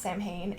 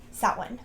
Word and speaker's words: Samhain: Halloween 2 lied to you it is not pronounced Sam Hae if I hear you pronouncing it Sam ha